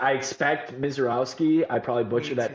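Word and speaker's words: Misiorowski: I expect Miserowski. I probably butcher that name if you could pronounce that right, Edward.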